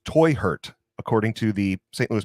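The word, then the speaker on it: Teuchert: Yeah, it's actually pronounced Toy Hurt, according to the St. Louis Post-Dispatch. They even said that in their article. Germans. So Toy Hurt, my toy got hurt.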